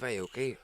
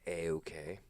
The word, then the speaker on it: Aoki: Steve Aoki hitting someone.